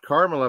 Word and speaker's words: Kamala: I think of because I she said it's pronounced Carmela but I would say Camala you know Camala Olive yeah Camala she has